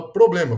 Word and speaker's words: problema: Já a palavra problema, vamos chamar a palavra problema. Problema, problema. Percebe que a gente coloca a força da pronúncia na penúltima sílaba, né?